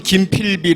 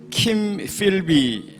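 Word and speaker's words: Kim Philby: 여러분 김 필비 아십니까 본토 발음으로 하자면 킴필비라고 하고요 또 메카라고 하죠 세계제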